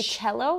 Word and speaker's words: cello: called a cello oh when you say cello yeah yeah it rhymes with one of my favorite foods Oh jello yeah all the instruments